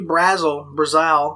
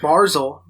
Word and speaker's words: Barzal: Matthew Brazel, I don't know how to pronounce it. Barzal.